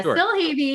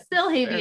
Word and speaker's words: Silhavy: pronounce your last name for me because i pronunciation is not my strong suit yeah i mean we get it all but uh still heavy is what we go with um but we